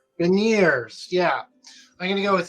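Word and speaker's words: Beniers: the Maddie bin how do you say this veneers veneers yeah I'm gonna go with him uh looking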